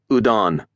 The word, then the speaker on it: Udon: "Udon," he said with an emphasis on the second syllable.